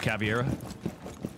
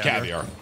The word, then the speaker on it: caviar: at floating around with cavier caviar it's caviar pronounced caviar what you have your